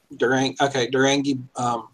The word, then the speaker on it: Drengi: It's probably Uh, Drengi. Go But- back. I've met this guy. Yeah. He pronounces it like Ferengi, but with a D. Durangi Bjornsson.